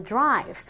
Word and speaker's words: drive: Un verbo como por ejemplo drive. Drive ya sabemos que no se pronuncia drive ni drive porque esa E es silenciosa, pero sí se enfatiza bien la letra anterior que es la V.